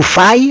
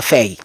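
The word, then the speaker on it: Faye: le duo Ousman et feille ou faille on dit on dit on a on prononce à feille et c'est un duo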